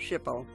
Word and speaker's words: SHPO: barn using recommendations from the New York SHPO (pronounced "ship-o").